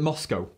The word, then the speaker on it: MoSCoW: getting things done and it's called moscow and that's an acronym actually it's four letters and it's spelled m s c w and we call it moscow they stand for all